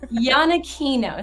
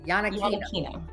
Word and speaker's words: Iannacchino: Iannacchino. So the IA is like a phonetic YA, and the CH is pronounced like a hard K. Iannacchino.